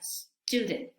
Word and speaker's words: student: Entonces, en vez de decir student, decimos student. ¿Qué es lo que estamos haciendo aquí? Estamos agregando la letra E, la vocal E, al principio, pero este es un